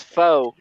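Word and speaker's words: faux: x-files all right yeah f-a-u-x is foe oh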